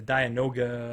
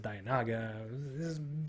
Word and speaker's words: Dianoga: And the Dianoga, I said Dianaga. That's a pronunciation thing, really.